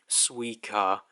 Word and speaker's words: Suika: Suika, yeah. So just, yeah, so you basically just ignore the T, it's just Suika.